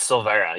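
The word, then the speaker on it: Silveira: Kelly Silveria. Kelly, can you tell me how to say it again? It's Silvera. You actually did pretty good.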